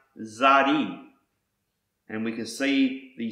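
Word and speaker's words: צדי: letter in the Square script this word is pronounced Zari and we can see the spelling of the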